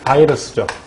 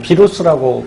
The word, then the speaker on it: 바이러스: 하는데 그 녀석이 누구냐면 바로 이 바이러스죠. 뭐 비루스라고 발음하기도 하고요.